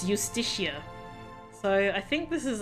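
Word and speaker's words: Iustitia: say it's eusticia so I think this is like a Latin thing the eye you don't actually pronounce it as an eye it's it's a j sound so it's eusticia I believe foreign thank you foreign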